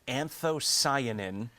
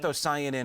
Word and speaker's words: anthocyanin: Um I think I remember how to pronounce this one. It's anthocyanin.